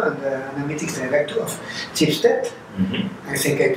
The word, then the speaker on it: Schibsted: Today we're having the data science director and the analytics director of Schibsted. Mm-hmm. I think I pronounced it correctly, yes.